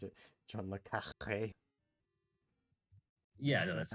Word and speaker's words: le Carré: That's why you have to pronounce it John le Carré.